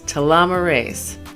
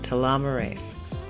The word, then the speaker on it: telomerase: enzyme and i pray i get this right to llama race to llama race that's how you pronounce it telomerase to telomerase actually counteracts telomere shortening and what